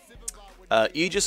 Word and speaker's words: Aegis: Aegis and Aegis are both correct pronunciations, actually.